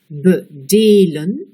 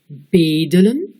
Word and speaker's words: bedelen: Écoutez, bedelen, on met l'accent sur la deuxième syllabe. Bedelen, on met l'accent sur la première syllabe. Réécoutez, bedelen, bedelen.